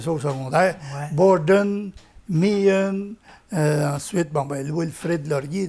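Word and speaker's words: Meighen: Mian, ouais. Ouais. Puis On ne prononce pas le GH, là, mais...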